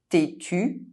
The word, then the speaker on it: têtu: head arête fish bone It’s is pronounced [e] if followed by a pronounced consonant and a pronounced vowel, meaning that the consonant is not pronounced in the same syllable: têtu stubborn gêné embarrassed EN and EM are pronounced